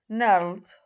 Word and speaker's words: knelt: Like here in these words, we say knelt, okay? This is silent.